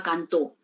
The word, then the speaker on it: cantó: Entonces tenemos aquí, mira, de canto, la mayor fuerza de voz, pues que está en la penúltima sílaba, no pasa a la última sílaba, ya tiene un significado distinto. Canto a cantó.